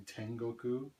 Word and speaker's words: Tengoku: Japan people call me Tengoku. My DJ name is. If you read that in Japanese, 10, just read it as 10. 5 is pronounced go, and 9 is ku, so Tengoku means heaven.